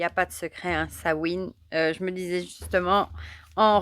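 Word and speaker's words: Samhain: en miroir avec bel sawin prononcé sin est un moment d'ombre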